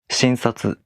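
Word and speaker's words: 診察: For example, shinsatsu. There's no accent for this word. But if you place accent on the first syllable and say, shinsatsu kudasai.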